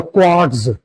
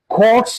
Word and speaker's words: quartz: In both these words like course and blitz there is t and zed structure together and t is pronounced as t and z is pronounced as s as sound.